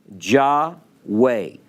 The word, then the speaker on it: Jahway: name but this child's name was spelled j-a-h-w-a-y which i thought was pretty clever ja way and this i'm telling